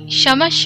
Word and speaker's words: क्षमस्व: এখানে দেখবেন আমি ক্ষয়ের উচ্চারণে স বলেছি, অর্থাৎ ক্ষমস্য কথাটি আমি সমস্য বললাম, কারণ এটি একটি সংস্কৃত মন্ত্র। হিন্দি এবং সংস্কৃতের ক্ষয়ের উচ্চারণ স-এর মতো হয়।